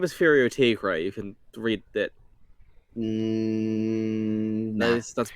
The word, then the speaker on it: tigre: Well, Tigre is a word. It is tiger in like Spanish, and it is pronounced Tigre.